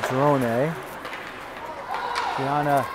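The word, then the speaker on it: Cedrona: bring it in to drone Tiana well I I to drone is the Italian pronunciation probably she hears the Drone a lot c-e-d-r-o-n-a goes around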